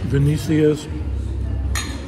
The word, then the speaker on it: Venecia's: It is pronounced Venecia'S, and that's what it's pronounced.